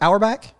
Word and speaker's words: Auerbach: Is that how you pronounce it? Auerbach?